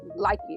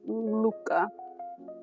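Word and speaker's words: Lykke: I know it looks like likey or something, but I think it's pronounced Luca. It means happiness in some language.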